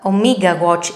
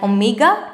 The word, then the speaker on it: Omega: I think this is the sign of Omega watches, the watches of James Bond, as you know. We don't say it like Omega, is Omega. And the lowercase form is like this.